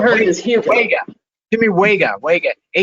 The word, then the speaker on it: Huega: Or Hugo, for those of us who don't know how to say it. People have heard it as Hugo. Jimmy Huega, Huega, right.